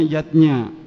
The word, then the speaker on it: yajna: lima macam selamatan zatnya tulisannya yajna Ayah Bunda tapi membacanya yatnya yang pertama adalah dewayatnya